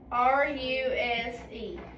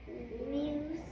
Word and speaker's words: ruse: R-U-S-E. Muse.